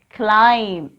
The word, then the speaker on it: climb: C-L-I-M-B. Climb. Here, letter B is silent.